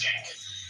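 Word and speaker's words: Cenk: And so they know each other, and they're political rivals, but his name is Chink, and he's not Asian. He's Turkish. It's spelled C-E-N-K. Right, but in Turkish it's pronounced Chink.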